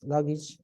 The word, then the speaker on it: luggage: But when you have age and you have more than more than two syllables, then the A is pronounced like E. So you say message. Yes, message. So you say package. Yes, message, package. Yes. And then we say luggage. Yes, luggage. Yes. Message, package, luggage.